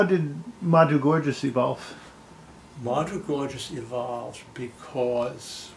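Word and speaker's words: Korjus: very very hard and her name was melitza gorgeous k-a-r-j-u-s she's polish and uh when mgm did its publicity it said rhymes with gorgeous so i thought lardo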